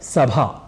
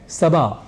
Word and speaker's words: सभा: कर जाया करते हैं जैसे हमें कहना होता है सभा या जनसभा पर बोल जाते हैं सभा या जनसभा ऐसे ही भार या प्रभार को